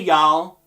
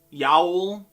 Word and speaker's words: y'all: newsletter saying stuff better hey y'all yowl yo you all yeah yeah it's just y'all it's why apostrophe all it's tough to represent